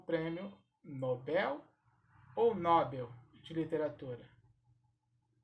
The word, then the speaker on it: Nobel: eu vou pronunciar o nobel ou nobel esta palavra é oxítona portanto a sílaba tônica será a última assim como a palavra